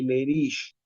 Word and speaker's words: Leriche: Y hay un cuadro muy interesante que se llama síndrome de lerish. Leriche se escribe síndrome de lerich.